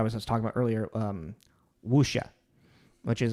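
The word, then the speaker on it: 武侠: Apparently, like, to get even more of the pronunciation of it, you're not even supposed to really pronounce the w in most Cantonese.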